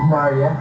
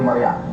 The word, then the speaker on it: Maricel: Magandang gabi Maria niyo ba ang dream ko yun na marinig niyo magandang gabi. Mara yun talaga ang pangalan ang pronunciation ng pangalan Mar. Hindi Maria actually dati po Maria tawag